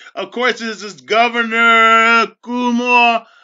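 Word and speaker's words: Cuomo: course this is Governor Kumo Kumo uh that's how you pronounce his name signning legislation to as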